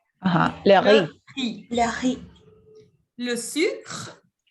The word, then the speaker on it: riz: Ensuite, vous avez le riz, il no se prononce la Z. Ajá. Le riz.